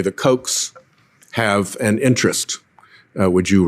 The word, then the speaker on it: Koch: John, it looks to me like pretty much every one of your employers has been funded by the Koch political operation. By that, I spell it K-O-C-H.